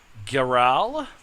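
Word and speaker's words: Garaele: And the beautiful young zealous elf comes up to you, introduces herself as Sister Geral. That is the French pronunciation.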